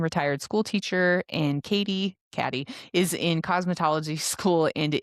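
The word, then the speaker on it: Cady: Her name is Katie and it's spelled C A D Y just like in Mean Girls. So guess what? It's Caddyy.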